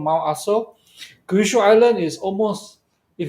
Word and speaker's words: Aso: And because New Zealand has got a lot of volcanoes, so Well, Kyushu Island have a volcano called Mount Aso, not ASO, to in case I pronounce it wrongly, you know.